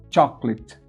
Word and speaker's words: chocolate: Veja que a primeira sílaba tônica é cho. E a segunda sílaba, clit. Pode ver que eu não pronuncio o A, ó. Chocolate.